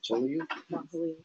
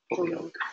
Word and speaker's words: Holyoke: How do you pronounce the college that you went to? Is it Joliet? Holyoke.